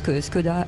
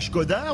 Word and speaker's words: Škoda: On avait dit pendant des jours que c'était Skoda et pas Skoda.